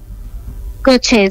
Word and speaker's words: Gaucher: Las enfermedades de Juan Manuel eran, ¿cómo se pronuncia esto? Gaucher, ¿cierto? Gaucher, sí, Gaucher, es una enfermedad huérfana.